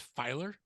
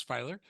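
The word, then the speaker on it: Feiler: you to tell us about Bruce is it pronounced fer Bruce fer yeah yeah some of his insights that you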